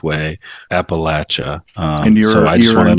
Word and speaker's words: Appalachia: While my co-hosts are pronouncing it Appalachia, I will stay strong and continue pronouncing it the correct way, Appalachia.